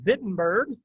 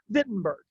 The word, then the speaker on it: Wittenberg: the town of wittenberg in german w's are pronounced like v's so it's wittenberg also fun fact these